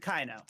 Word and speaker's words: Caino: Oh, Kano, almost like the guy out of Mortal Kombat. Close, but I pronounce it Kaino. I pronounce it as if there should be a K there. Instead, it's a C.